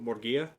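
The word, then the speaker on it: Murguía: How do you pronounce the I? With the accent? Yes. That's the syllable that you accent. So, Morgia?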